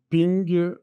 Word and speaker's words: PNG: disponible en pixel version ping donc version PNG c'est du bitmap donc ça veut dire du pixels du PNG c'est le format ça se prononce ping en anglais elle est disponible en